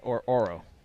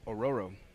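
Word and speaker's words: Ororo: Is it Aurora or Oro? Aurora. I always pronounce it Oro.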